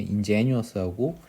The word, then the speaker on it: ingenuous: 발음을 한번 들어보시면 ingenious, ingenious 이렇게 발음을 하는 것이고, ingenuous, 오른쪽에 있는 ingenuous는 ingenuous, 다시 ingenuous, ingenuous 이렇게 발음을 하는 거예요.